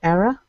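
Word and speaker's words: Éire: which in Irish is spelt e IRA and pronounced era yes he wondered if there's a connection to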